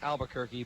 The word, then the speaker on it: Albuquerque: it wasn't that good now I know it's pronounced Albuquerque but if you're a Bugs Bunny fan you know that he pronounced it Albuquerque Wow 1 2 flyball